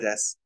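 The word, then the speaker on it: です: Oh, yeah, I left out the U. It's unpronounced either way. It's silent there. There should be a U after the S and before the K, but it's not pronounced.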